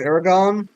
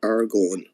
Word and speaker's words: Aragorn: supposed to pronounce it I used to say it's Aragon but uh I was told I was wrong what it's AR going yeah proba but I